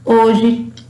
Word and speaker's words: hoje: Por exemplo, no início de palavras, por exemplo, ela não tem som. Hoje, hábito, Helena, No final de palavras, ela também não tem som.